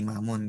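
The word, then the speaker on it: إمام: Nih, misalkan kalau ada dal, lam sama kaf, oh bacanya dzalika. Kayak gitu. Ada hamzah, mim, kemudian alif, mim, imam gitu ya. Oh berarti imamun gitu.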